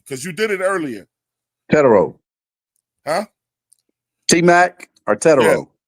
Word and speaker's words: Tetairoa: Tetairoa is how I pronounce it. Yeah, you call him it's Tetairoa. Yeah, it's like almost like Hispanic.